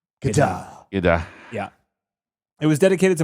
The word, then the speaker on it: Godard: It's Godard. That's how you say his name. Godard.